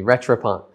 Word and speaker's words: Rattrapante: I think a lot of people, maybe they're afraid of the word because it looks hard to pronounce. It's not. You can do it. Say it with me, Rattrapante.